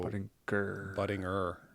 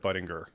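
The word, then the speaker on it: Budinger: Yeah, no ger, but Buttinger. Buttinger. Ger. Like a tiger.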